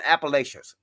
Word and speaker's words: Appalachia: But my thing is this: look at up there what happened in Appalachians.